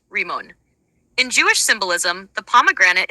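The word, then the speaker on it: רימון: pomegranate in Hebrew sorry word for pomegranate in Hebrew is one pronounced remon in Jewish symbolism the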